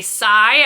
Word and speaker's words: Cy: Coming in at number 6 is Radium Girls by Cy, I believe is how it's pronounced, C-Y period.